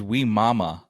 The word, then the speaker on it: Wimauma: about today um mo how do you say that city name we mommy or we mama we're moral really we really should ask there's two m's in there so it's we mama yeah so so this